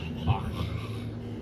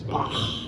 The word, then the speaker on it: Bach: Bach. Is that actually how you pronounce it? I don't pronounce Bach. I say Bach. Bach. Like a chicken.